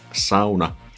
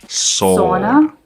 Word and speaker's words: sauna: English speakers pronounce sauna, sauna. You know, sauna is the pinnacle of Finnish culture. You want to pronounce that right. Sauna, not sauna. There's no sauna, you know?